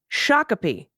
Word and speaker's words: Shakopee: Wayzata Adina is a Dinah okay Adina Chicopee Shakopee all right oh good to know and why